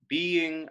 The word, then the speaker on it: being: Being a divine, a ghostly confessor. So if you don't elide being, if you say two syllables, it becomes a feminine ending.